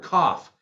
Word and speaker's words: cough: How do you spell the word cough? C-O-U-G-H, but it's pronounced like an F.